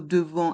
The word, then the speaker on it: devant: Puis, devant, dans le mot devant, il y a le son en avec les lettres A et N. Le T est muet.